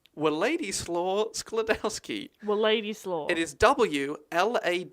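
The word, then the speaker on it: Władysław: Her father, this is going to be very difficult to pronounce, but it's Wladyslaw Skladowski. Wladyslaw. It is Wladyslaw.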